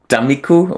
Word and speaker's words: Tammikuu: One song that stands out for straightforward reasons is the song, and I will mispronounce this again, Tammikuu, which I Google Translate tells me it means January.